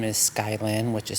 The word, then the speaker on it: Skyilynne: My name is Skylyn, which is spelled Skyillynne.